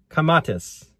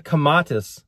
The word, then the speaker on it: kamatis: In Bisaya, which is one of the languages of the Philippines, it's the language my wife speaks, the word tomato is pronounced kamatis with a K.